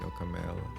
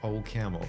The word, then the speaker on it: OCaml: the way they say it okam because it's um the core team is French so it's kind of I'm I'm not trying to make make fun of um if if that's the way they pronounce it I heard Xavier he said AME and that's somehow so sweet AME instead of O camel you know this o and then a camel so it's just fun